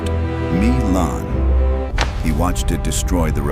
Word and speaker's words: Milan: Machiavelli watched this pattern destroy the Duke of Milan, pronounced Me-lahn.